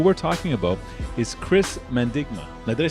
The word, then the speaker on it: Mandigma: capital and who we're talking about is chris mendigma now did i say that properly yeah yeah